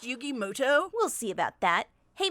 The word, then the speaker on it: Yugi Muto: a minute is that yugi muto actually his name is pronounced yugi moto we'll see about that